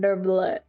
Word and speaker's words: Neuvillette: than Neuvillette.